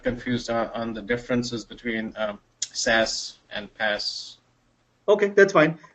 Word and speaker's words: SaaS: right so I have SaaS which is normally pronounced as SAS as and and us